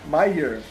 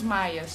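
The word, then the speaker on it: Mire: Meyer. Meyer. Os Meyer. Mas pensa que a pronúncia é quase os Maias.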